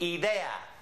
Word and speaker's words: idea: Of course, we say idea, some of us. It depends on where you're from. But in Spanish, it would always be pronounced idea. Idea. Ah. Tengo una idea.